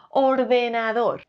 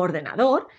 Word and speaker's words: ordenador: si es dos ordenador como veis la forma correcta de pronunciar ordenador es con la sílaba tónica en dos ordenador y vamos con la